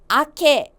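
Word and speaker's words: 明け: 발음이요. 아케 좋습니다.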